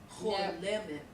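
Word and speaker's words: חולמת: Cholemet. Yeah, it's whole lemon, yeah, Cholemet. lemon, okay, very good.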